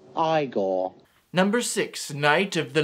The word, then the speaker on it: Igor: also there's marty feldman you must be igor now it's pronounced igor number six knight of